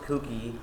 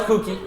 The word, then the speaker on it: kooky: His winter promotion is called Mookie Goes Kookie and offers God. delicious cocoa and cookies. No, it's kooky. You got it. Oh, Kooky. Yeah, pronounce it kooky.